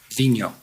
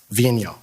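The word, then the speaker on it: Vigneault: name we've all been debating about how to pronounce it properly Vino Vino all right so David Vino he stated that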